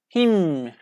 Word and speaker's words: hymn: We don't pronounce N, hymn.